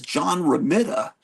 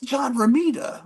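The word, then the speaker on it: John Romita: know people on YouTube he says John R raida and I'm thinking what am I saying it wrong but he's a kid no it's it's John Rita and they make you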